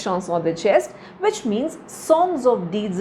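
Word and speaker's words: chanson de geste: the shanon the chest it's from French so obviously pronunciation is shanon the chest which means songs of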